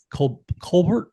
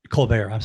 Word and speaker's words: Colbert: Actress Claudette Colbert was it first? Colbert. I knew I was going to mispronounce that.